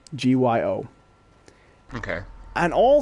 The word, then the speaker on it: Gyo: One called Tomi, one called Uzumaki, and one called, I think it's pronounced Gyo, Gyo.